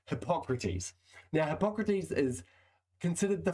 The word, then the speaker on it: Hippocrates: Now, there are multiple ways to pronounce his name. I'm going to pronounce it Hippocrates.